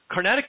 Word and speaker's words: Carnatic: Is that how you pronounce it? Carnatic?